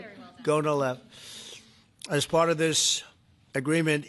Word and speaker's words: Gonal-f: So it's Gonal-F. Is that a proper pronunciation? Very Close well enough, done. right? Very well done. Gonalev.